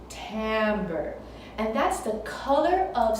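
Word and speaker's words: timbre: is called Tambor Tambor it's spelled with an i but you say it with an a Tambor and that's the color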